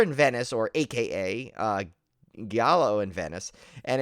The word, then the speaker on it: giallo: it differently every time i know it's jollo some people say giallo giallo i just probably jalo but um right do we ever get the exact pronunciation like the official film historian pronunciation i think i think it's technically giallo but i like to say jello jello yeah yeah yeah